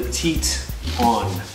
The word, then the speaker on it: Tieton: No, it's Tieton. Is it T-E-T-O-N? It's definitely Tieton. It's T-I-E. Yeah, Tieton.